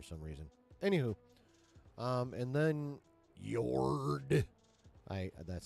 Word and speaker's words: Yord: Anywho, and then Yord, that's how I say his name.